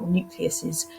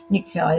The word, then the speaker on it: nuclei: we get two new nuclei or nucleuses nuclei is the correct way to say it and that gives rise